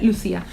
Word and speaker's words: Lucía: Y gracias Lucía, que según esto se pronuncia Lucía, por ser así y por darnos estas historias tan maravillosas, porque si no existiera habría que inventarte, la verdad.